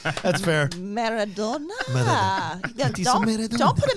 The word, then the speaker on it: Maradona: Maradona is how you say it. Yes, let me pronounce everything and then go, oh, yeah, I